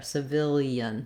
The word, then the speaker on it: civilian: helpful to think about this gliding sound that happens between the e and the schwa the ah because we're linking those vowels i don't just say e but it ends up with a little bit of a y gliding sound there civilian civilian so you can again try villian civilian you can get more